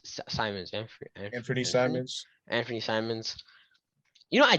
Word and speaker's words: Simons: And off the bench, you have like Covington and how do you pronounce his name? Simons. Anthony Simons, Anthony Simons.